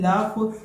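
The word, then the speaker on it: laugh: अब इसके बाद जो अगला वर्ड है वो है लाफ। दोस्तों इसको आप लोगों ने कभी भी लॉग या लाग नहीं प्रोनाउंस करना है, इसको आप लोगों ने लाफ प्रोनाउंस करना है।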